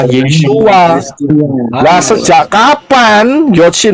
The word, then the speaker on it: Yeshua: Nah, problemnya, apakah Yod, Shin, Waw, Ayin ini bisa dibaca atau diucapkan Yesus? Tidak. Tidak, Pak. Tidak. Jelas tidak, nggak bisa. Karena Yod, Shin, Waw, Ayin itu bacanya, pronounce-nya, pengucapannya adalah Yeshua.